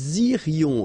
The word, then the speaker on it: irions: Okay, then, nous irions. Okay, so let's make this little liaison between the two. Nous irions. Final S not pronounced.